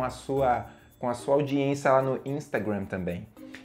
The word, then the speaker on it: Instagram: rede social é o Instagram Instagram né ou ou algumas pessoas chamam de insta né Instagram na pronúncia correta em inglês é instagram instagram repeat with me Instagram ok Nossa